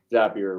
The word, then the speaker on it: Zapier: Yeah, Zapier rhymes with happier.